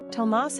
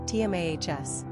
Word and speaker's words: Tomás: The main difference between Thomas and Tomás is where the accented syllable resides. Tomás has the accent on the last syllable, leaving us with a more energetic and upbeat ending.